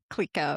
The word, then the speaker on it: Clicquot: thank you for telling me how to pronounce Clico, because boy, have I been butchering that for 20 plus years.